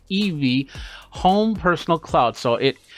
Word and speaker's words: ibi: the e me weld i bi but pronounced evey home personal cloud so